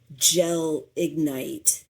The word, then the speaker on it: gelignite: So Gelignite, it sounds like two words. It is written as one word. So Gelignite.